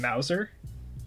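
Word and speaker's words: Mouser: You remember Mauser? No. It's spelled like Bowser, but with an M.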